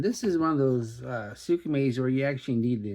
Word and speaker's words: Skmei: That's the way you pronounce it. So you don't think I just came up with Skmei on my own, do you?